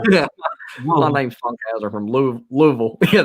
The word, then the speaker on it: Louisville: My name's Funkhauser from Louisville. Yeah, that is Louisville. That's wild whenever people pronounce Ville as Bull.